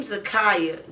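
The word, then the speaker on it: Zakiyah: It is uh, let's see, the name Zakaya. Z A K I Y A H. It sort of spelled like it's going to rhyme with Zariah.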